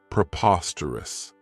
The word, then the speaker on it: preposterous: This adjective has 4 syllables, and the stress is on that second syllable, preposterous. Remember that OS has that schwa, that sound.